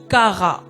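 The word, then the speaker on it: קָרָא: Et en hébreu, on me dit que le mot appel signifie kara. Kara qui s'écrit Q-A-R-A, qui signifie kara.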